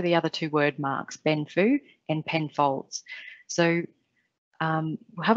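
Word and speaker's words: 奔富: chinese and mandarin speakers they say something closer to benfu and the character mark the chinese character mark is pronounced as benfu when they read it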